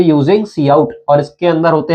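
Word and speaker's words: cout: Similarly ये होता है सी आउट, काउट नहीं लिखा है, सी आउट लिखा है, इसकी प्रोनाउंसिएशन है, सी आउट बोलते हैं इसको।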